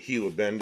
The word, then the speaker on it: Gila Bend: And Gila Bend is spelled Gila.